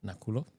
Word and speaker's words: Nakhulo: name I don't nulia K is silent in both so it's not so ignore the k n a k hu l o yes today I'm going